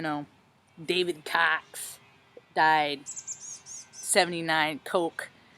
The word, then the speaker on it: Koch: Like, I'm talking about the bottom, not like the freaking, you know, David Cox died 79 Coke. I think it's Cock, Koch, but I guess it's pronounced Coke, but Cock.